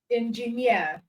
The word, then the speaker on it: engineer: number 10 okay so word ending in um eer or EC are usually stressed on the last cable okay usually stressed on